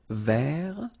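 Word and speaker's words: vert: ver so masculine form you don't pronounce the final T ver feminine form so listen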